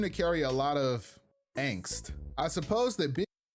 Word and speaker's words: Angst: carry a lot of angst. I suppose that it's so funny to me that that is an actual English word, because that's a German word which is pronounced Angst, which means anxiety in